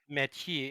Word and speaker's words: Mathieu: His name is fucking Mathieu, and whenever you say Mathieu, it sounds like someone saying ew.